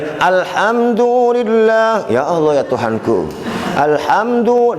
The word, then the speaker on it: Alhamdulillah: Bagaimana bacanya? Ditahan mimnya. Alhamdulillah.